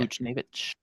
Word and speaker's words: Buchnevich: Fridge said for Pavel Bushnevich, is that how you say his name is? Yeah. Buchnevich.